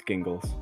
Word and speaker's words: Gingles: Or is it Gingles? It's Gingles. It's Gingles. Gotcha.